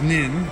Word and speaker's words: Nin: I bought a ticket and she says it's Nin, so I'm saying it right.